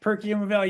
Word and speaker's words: Perkiomen Valley: So the Nova Lab is from, oh my gosh, I realized I never pronounced this word out loud. Gary, what is Perkiomen Valley? Yes, Perkiomen Valley, you got it.